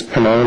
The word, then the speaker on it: Pannone: Pannone? It's Pannone. I can spell that for you. It's P as in Papa, A-N-N-O-N-E.